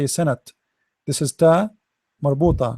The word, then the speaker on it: سنة: Start with letter by letter. Sa, na, san, and then ta. This is ta marbuta, ta light ta. So sana. Remember the ta, we don't say sanat.